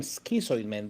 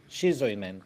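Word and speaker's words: Schizoid Man: And uh John I have been I had been pronouncing the name skisoid man but you just said shizoid man. So it how how is it man? Shizoy man.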